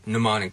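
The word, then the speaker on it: mnemonic: thing happening with pneumonic as in pneumonic devices where we drop that M sound but when we get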